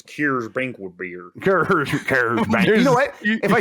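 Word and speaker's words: Coors: yeah it's like that it's not cores it's cures Brink beer if I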